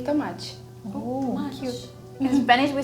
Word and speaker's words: Tomate: I don't pronounce the T as T. I pronounce it as che. Oh. Tomate.